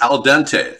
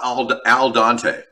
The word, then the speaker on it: al dente: on the potatoes too it's al dente that's right not not al dante that's correct i mispronounced